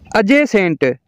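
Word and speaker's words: adjust: का L silent है अज Saint अजे सेंट का मतलब है मुलक अजे सेंट का डी साइलेंट है अजज अजज का मतलब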